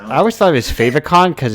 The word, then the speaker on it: favicon: So I always thought it was Favicon because it's like when you favorite it, Yeah, it's your favorite icon. It's definitely like favorite icon, and then fave but short.